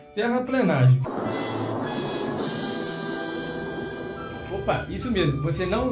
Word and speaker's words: terraplenagem: Então dica número 1, terraplenagem. Opa, isso mesmo, você não leu errado e também não ouviu errado. O termo correto é terraplenagem e não terraplanagem.